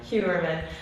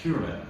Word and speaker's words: Heuermann: Pronounce his last name again for me? Heuermann. Rex Heuermann.